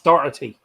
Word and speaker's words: Doherty: the one playing from everyone pronounces his name wrongly and I'm gonna get it in the neck from the Irish you know from that there's no K in Doherty it's dottity yeah can I ask a